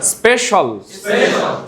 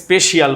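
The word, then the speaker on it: special: তোমরা তো অনেকেই এটাকে স্পেশিয়াল বলে। কি বলো? আবার সেদিন একজন বলে স্পেশিয়াল, ঠিক আছে? তো সে ডবল ভুল করছে, প্রথমে স্পেই তারপরে কি শিয়াল।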